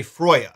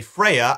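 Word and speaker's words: Freyja: Or should I say Froya, since that's closer to how her name was actually pronounced. Here's what we're gonna do. When I say Freya, I mean the video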